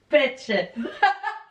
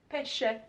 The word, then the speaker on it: pesce: Hon uttalade pepp, hur uttalade Oj, fisk? nu blev Stella väldigt kränkt. Vad heter det? Säg fisk. Pecce. Pesce.